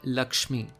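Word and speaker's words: লক্ষ্মী: itself take for example the word lakshmi in hindi this word is pronounced as loki in bangladesh is simplified to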